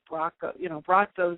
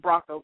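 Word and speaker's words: Braco: At the time, I was calling him Bracco because it's B-R-A-C-O. I mean, how do you don't know you're supposed to pronounce it, but he's Croatian, so that's the, Croatian pronunciation.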